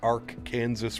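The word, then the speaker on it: Arkansas: In Kansas is pronounced Ark Kansas River.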